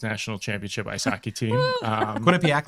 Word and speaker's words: Quinnipiac: Quinnipiac, like Economowoc. I know how to say it now.